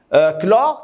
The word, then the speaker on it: chlore: Chlore, ça se prononce chlore, Cl, c'est pas Ch.